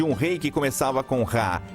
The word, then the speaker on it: Ra: Champollion sabia que em copta o nome do sol em egípcio antigo se pronunciava Ra.